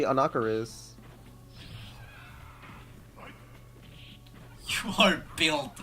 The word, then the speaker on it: Anakaris: If you say Anakaris, you're fucking weird. It's literally Anakaris.